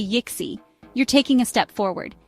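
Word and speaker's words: yksi: try it and finish say why like you're looking into a cookie jar and add a little at the end give it a go yixi k UDA say on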